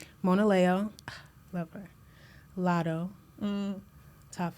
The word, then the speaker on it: Mona Leo: I feel like I said her name wrong last time, but Mona Leo. Mona Leo.